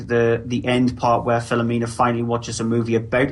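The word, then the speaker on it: Philomena: film at number three it's fomina or filamina if you want to pronounce it correctly yeah I would actually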